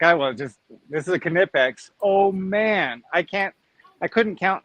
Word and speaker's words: Knipex: going to say, oh, you should have pronounced it Knipex, don't pronounce the K. And then there's the other side that says, yeah, you pronounced it right. That's how they say it.